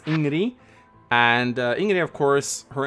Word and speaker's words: Ingrid: Up next at number 9, we have the character that everyone gives me flack for pronouncing her name correctly. It's Ingrid.